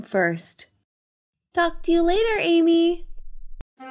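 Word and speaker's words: Aimee: i'm from french oh so is your name not amy a-m-y no but it sounds the same how do you spell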